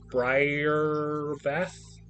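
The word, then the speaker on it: Brybath: So, it's spelled B R Y R B A T H. So, I would say Bri Briath.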